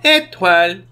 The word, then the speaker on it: Étoile: to the campsite hello itral hello this is etwal what can i do for you fuzzy i'm